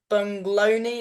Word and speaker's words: Buglioni: But Frank Bungloni, is that how you say it? You lost on Frank unanimous Buglioni. decision. Frank Buglioni, yeah, that was my first step up.